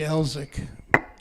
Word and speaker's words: Elswick: So the story was that Harvey Elzick, whose name is spelled Elswick. Everybody who's ever written the tune down spells it Elzik, I think. But anyway, the family name, there's still a lot of Elzicks down in Clay County